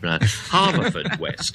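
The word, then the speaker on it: Haverfordwest: But John Lloyd of, I think it's pronounced Harford West, or is that only the Mayfair branch? Haverford West, I don't know. Harford West, I think.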